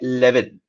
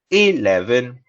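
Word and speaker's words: eleven: Lots of people say 11, like first E gets eaten, like chakna, no, you'll sit and eat the first E, but it is 11.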